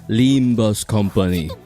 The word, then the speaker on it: Limbus Company: is pronounced Limba's company Wednesday.